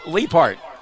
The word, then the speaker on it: Lippert: Say his name again for us, Chris. Chris, no, Leopard. Leopard, okay. Leopard.